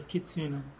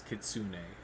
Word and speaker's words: Kitsune: to hear Jeremiah Say kitsuno Yeah he didn't even say it right it's Kitsune Stone Face fine let's